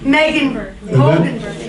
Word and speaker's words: Moegenburg: Moegenburg.